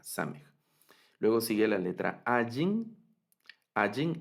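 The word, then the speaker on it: עין: En algunas construcciones y en algunas variantes de pronunciación les pareciera sonar la letra Ayin, pero en realidad esta es completamente silente, la letra Ayin.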